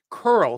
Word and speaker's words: curl: to pronounce girl and curl so both of those words are tricky because they both have that Angry Dog vowel sound um thank you